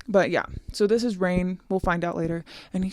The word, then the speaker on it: Raihn: We later find out that his name is Rain, which is awesome. It has an H in there. You know, the H is silent. Um, but yeah, so this is Rain.